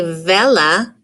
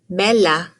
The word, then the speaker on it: bella: letter v just makes the sound like the letter b so you wouldn't say vella you would say bella isla bella and if